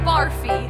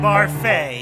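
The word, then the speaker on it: Barfée: season's tragic setback William barfi it's pronounced barfay there's an accent A2 I'm not sure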